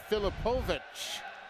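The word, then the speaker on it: Filipovits: He spells his last name Filipoviti, but it is pronounced Filipovich.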